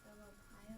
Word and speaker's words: Thermopylae: Okay, so, there's some key events, and one of those was the Battle of Thermopylae, I believe that's how you pronounce it.